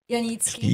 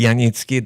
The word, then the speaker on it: Janicki: And today I have a special guest, Katherine, and last name Yanitki. Yanitki, that's the way you pronounce it.